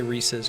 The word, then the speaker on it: Reese's: pieces of em& Rees should say Reese's cuz it rhymes with pieces Reese's Pieces Reese's Pieces